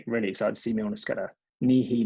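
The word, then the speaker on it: Nehe: Nihi Milner-Skudder. Johnny, not Nahimi Milner-Skudder.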